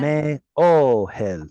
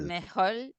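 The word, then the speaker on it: מאהל: ha, And without sounding like a bad word in English, this last syllable is hel. hel, Me o hel. Me o hel. mejol, mejol, el, Not quite.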